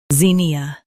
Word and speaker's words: zinnia: Zin, E, ZINNIA. Emphasize zin and soften ia.